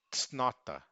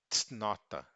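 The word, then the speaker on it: cnota: No início, tsnota, tsnota.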